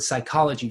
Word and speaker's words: psychology: we get the word Psychology from it we make the P silent but it would have